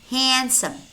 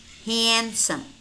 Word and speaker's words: handsome: silent as in hand kerchief handkerchief Wednesday Wednesday handsome handsome ma'am ma'am I said yes ma'am or no